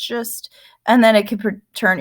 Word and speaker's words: schist: like could turn to schist that's pronounced just and then it could